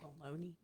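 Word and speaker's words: Bologne: Baloney. Joseph. It was. It sounds like baloney, like the. What do you want? Phonetic term, I guess, of it, like Bologna or something.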